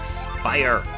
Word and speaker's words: Spire: Not Quake, Spire! It rhymes with fire!